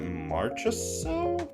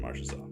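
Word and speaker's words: Marchessault: Is that Marcho Maro? It is Jonathan Marshaw.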